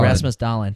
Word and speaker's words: Rasmus Dahlin: Rasmus Dahlin.